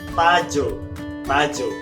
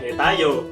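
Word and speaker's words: 타조: Tajo, bukan Tayo, Tajo. Sedangkan tayo juga bahasa Korea karena memang itu animasi Korea, dari kata tada artinya naik.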